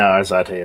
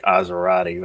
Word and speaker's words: Arzate: No, Arzate is right. Nobody pronounces it correctly. It's better than pronouncing it something like Azerati. It's like, where the fuck did you get the U?